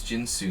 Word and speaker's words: Ginsu: ginseng or ginseng shinsu all this time it was jinsu knives they've been saying it wrong eventually you're gonna have